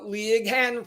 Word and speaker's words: Leighann: we are pronouncing uh Lig Han properly is that correct absolutely all right absolutely yeah that g h make people stumble I I don't know